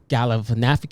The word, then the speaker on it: Galifianakis: Yeah, they said Zach Galifianakis.